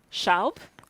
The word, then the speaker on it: Schaub: this speaker um and her name is stephanie sharp have i pronounced it correctly stephanie exactly perfect stephanie is